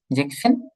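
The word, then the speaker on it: sechzehn: যে এস কাটা যাবে, হ্যাঁ যে এস কাটা যাবে, জেক্সেন হবে না, জেকসেন হবে। সেম জেক্স ভাবে, সেন। হ্যাঁ, যে জেকসেন আর হচ্ছে জিপসেনটা একটু শুধু খেয়াল রাখবেন, জিবেনসেন হবে না, জিপসেন হবে, জেকসেন জিপসেন।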